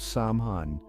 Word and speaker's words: Samhain: supernal and they had a special celebration called saman pronounced sa Sam ha was one of the most